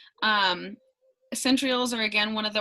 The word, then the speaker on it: centrioles: centriole say that again centrioles centrioles not centriolates centrioles was it not i